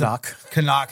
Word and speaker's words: Knock: mean like even the character of knock right was Kan kanak as they pronounced it and that's like